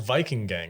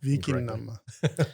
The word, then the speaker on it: Vikingane: is Viking is Viking, and then Anna is sort of the plural form when it comes to New Vikingane. Norwegian or Old Wow.